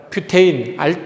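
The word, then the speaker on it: butane: 그래서 우리가 이제 화학을 배운 사람 입장에서는 알케인, 즉 뷰테인, 프로페인 이런 식으로 발음해야 되고 부탄가스가 아니라 뷰테인 가스라고 발음을 해야 된다.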